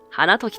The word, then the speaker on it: 花時: をしている桜の時と書いて花時と読む春には桜